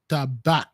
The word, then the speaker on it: Tabak: It pronounced tabac.